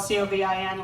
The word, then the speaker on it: Covin: Covin is spelled C-O-V-I-N, like in a cove, Covin, C-O-V-I-N.